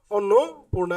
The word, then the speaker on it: অন্নপূর্ণা: নিয়ম আছে সেটি হচ্ছে অন্নপূর্ণা যে শব্দটি আছে অন্নপূর্ণা এখানে দেখতে পাচ্ছ যে সঠিক উচ্চারণ কি হয়েছে অন্নপূর্ণা এখানে আমরা কি কি পরিবর্তন লক্ষ্য করতে পারছি এখানে দেখো এতটুকু কিন্তু ঠিকঠাকই আছে এখানে এতটুকু ঠিকঠাকই আছে কিন্তু এখানে দেখো উকারের বদলে ঠিক আছে দীর্ঘ উকার বদলে কি হয়েছে রস উকার ব্যবহৃত হয়েছে কি হয়েছে রসকার ব্যবহৃত হয়েছে অধ্যক্ষ যে শব্দটি আছে